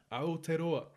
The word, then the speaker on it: Aotearoa: I've seen people like Aotearoa do that with like chickens.